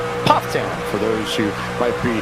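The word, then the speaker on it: Pfafftown: at aown North Carolina yes it looks like paa Town it is pronounced puff toown for those who might be natives to the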